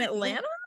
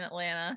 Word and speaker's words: Atlanta: like say say ATL pronounce the second T in Atlanta um drink Pepsi we